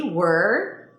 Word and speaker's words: word: which is basically like world with no L.